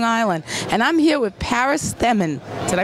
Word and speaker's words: Paris Themmen: And I'm here with Paris Stemmen. Did I pronounce that right?